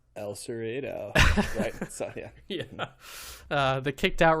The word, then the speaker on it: El Cerrito: based out of San Francisco um so that's pronounced El Cerrito yeah uh the kicked out Ron mcgoverny citing